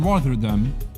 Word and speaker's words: Rotterdam: It's double T. Rotterdam. Yeah, Rotterdam. That's how you say it, right?